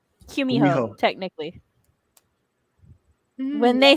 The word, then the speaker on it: Gumiho: Gumiho, technically.